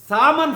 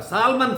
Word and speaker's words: salmon: That is salmon fish. Actually, L is silent, salmon fish అంటాం దీన్ని ఏమంటామో సామన్ fish అంటాం. సాల్మన్ fish కాదు, spelling మటుకి SALMON, సామన్ ఫిష్.